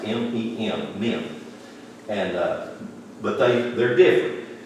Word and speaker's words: Mem: That's how they're pronounced, M-E-M, Mem.